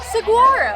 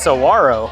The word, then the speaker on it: Saguaro: I think the G is more of like a W sound.